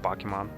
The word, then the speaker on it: Pokémon: But sometimes I use Pokemons. Although I heard that the proper pronunciation is Pokemon. It doesn't matter is it singular or plural. It's just Pokemon.